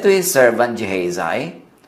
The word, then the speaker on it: Gehazi: assistant na si Gehazi, sa mga pangalan na Hebrew, pangalan na Jewish, pagka gusto niyong magkaroon ng mas tamang pronunciation, mas tama yung Tagalog pronunciation or yung Filipino pronunciation kaysa sa English style pronunciation. So yung Gehazi na yun sa English, pag sinabi mong Gehazi, mas malapit yan sa original Hebrew translation or pronunciation.